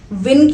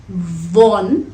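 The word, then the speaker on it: won: इफ यू विन, वॉन, वॉन लग सकता है कि आपको इसकी प्रोनाउंसिएशन वॉन हो, पर सही प्रोनाउंसिएशन है वन।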